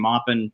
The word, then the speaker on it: Maupin: correctly I'm Caleb Maupin my last name was probably mopan like 100 years ago in France but my family's been saying moppin for for the last few Generations as far back